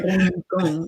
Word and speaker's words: Rincon: I have to tell how to say it. You got to roll that tongue, folks, right? Rincon, yes.